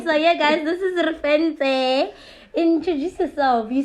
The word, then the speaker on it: Refentse: okay hey guys um my name is reference other people pronounce it as references yes um yeah either way potato potato same thing yeah um yeah i